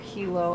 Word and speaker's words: Hilo: the entire travel vlog i was saying it wrong um it's hilo not hilo i was landing tuesday